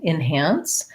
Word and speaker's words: enhance: So enhance, even though it's spelled with letter E, because it has second syllable stress, might sound a little bit more like an I, enhance.